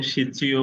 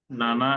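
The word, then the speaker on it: 七: সাতকে সিচিও বলে, নানা এবং সিচি দুইটা আছে সাতের উচ্চারণ।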